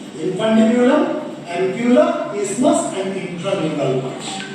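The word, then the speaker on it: isthmus: যদিও এর বানানটা আই এস টি এইচ এম ইউ এস। আমরা কিন্তু এটাকে ইসথামাস বলবো না। আমরা এটাকে কি বলবো? ইসমাস বলবো। যেমন দেখবেন এজমা। এজমা যদি বানান করো এস টি এইচ এন আমরা কি এসথামা বলি? যারা বলি তাহলে ভুল প্রোনাউন্স করি। একচুয়াল প্রোনাউন্সিয়েশন কিন্তু এসথামা না। ওর প্রোনাউন্সিয়েশন হচ্ছে এজমা। ঠিক আছে? This is নট ইসথমাস। This is ইসমাস।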